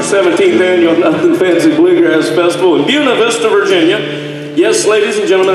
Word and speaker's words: Buena Vista: annual bluegrass festival in Buena Vista Virginia yes ladies and gentlemen that's how we pronounce the name of that little town Buena Vista Virginia it's right there